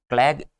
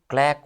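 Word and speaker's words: claque: और क्लैग, क्लैग नहीं, क्लैक होता है, ये क्या होता है, क्लैक होता है, क्या होता है, क्लैक होता है, ना कि क्लैग होता है, ठीक है।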